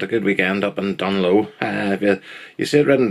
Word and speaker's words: Dungloe: That's us back at the ranch, and another weekend, a good weekend up in Dunlow. If you see it written down, it's like Dunglow, but the G is silent.